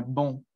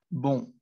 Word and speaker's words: bon: Entonces esa palabra suena bon, bon. Entonces va a sonar como un sonido nasal y pues no va a sonar con esa E, digamos, que naturalmente tiene, sino que pues va a tener otro sonido.